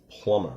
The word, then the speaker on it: plumber: The word origin today is plumber. All right, one thing to note about plumber, remember that the B is always silent.